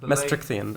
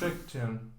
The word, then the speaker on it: Maastrichtian: Maastrichtian, I think, is that's pronounced. Maastrichtian. There's no TH.